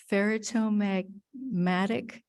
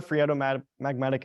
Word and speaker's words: phreatomagmatic: Is this considered ferritomagmatic eruption? Yeah, How do you say it? Phreato.